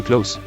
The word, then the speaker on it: close: pronunciation he's getting close now close the door did you see what happened there the first close is pronounced with the soft s the letter is pronounced